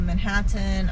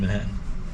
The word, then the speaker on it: Manhattan: And I like how you pronounce both T's in Manhattan. What, Manhattan? Yeah. It's not Manhattan to you, it's Manhattan. Wait, say that again? What's the difference? You pronounce each T as its own separate T. There's a T in the beginning and there's a T at the end for you.